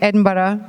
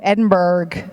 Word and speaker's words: Edinburgh: Yes, it's good. Edinburgh. Edinburgh. Right? Just don't say it like the Americans, those goddamn Yankees. Edinburgh. You said it right.